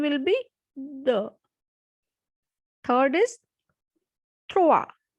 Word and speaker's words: trois: Third is trois, trois, because O and I has the sound wa. So trois.